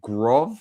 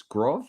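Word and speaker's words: Groß: points in total uh he said trisaad and grov it's groth that's pretty sure for sure that's how you pronounce it uh in a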